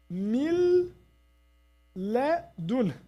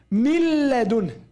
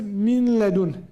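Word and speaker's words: من لدن: We say milladun, milladun. If someone comes to insert some noon here, we say that's wrong. Some people say minladun, minladun. This is wrong. You have to neglect entirely the noon, because idgham means fusion, merging.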